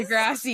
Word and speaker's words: deGrasse: Yes, deGrasse. but it's spelled almost identical, that's why.